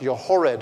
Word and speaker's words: Jochebed: As we say it in the American English language, her name actually is pronounced Jochebed.